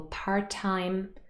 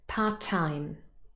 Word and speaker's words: part-time: So we have, for example, part-time, homemade, old-fashioned, hardworking. So I'm going to say the words again. Listen out for the stress. Part-time, homemade, old-fashioned, hardworking. Here, the stress is on the second syllable. Part-time, homemade.